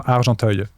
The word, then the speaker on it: Argenteuil: Maybe you can try to find the one from Argenteuil. How do you spell that?